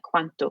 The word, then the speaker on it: quanto: Quanto quantity qu u a n t o qu u a n t o So the first few letters are same in English quanto and quantity quanto like how much